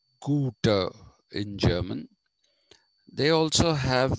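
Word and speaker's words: Goethe: like schiller shelling holderlin and guter g-o-e-t-h-e is pronounced guter in german they also have this influences of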